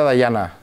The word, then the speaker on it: Dayana: Entonces es Diana con Y. ¿Qué? Pero es Diana con Y, pero se pronuncia Dayana.